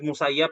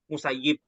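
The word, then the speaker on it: Musayyib: sini musayab bapak ya di sini ditulis musayab tapi eh yang masyhur atau yang populer itu musayib musayib ini bukan bukan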